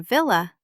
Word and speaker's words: villa: But in villa, vil is a closed syllable. The syllable ends with the consonant letter L, and that makes the vowel short. Let's read the examples.